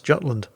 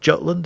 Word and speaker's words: Jutland: Tier 9 destroyer HMS Jutland in a Tier 10 battle here on the Islands of Ice map. Sorry, what's that? Scandinavians at the back, speak up. It's not pronounced Jutland, it's the Jutland.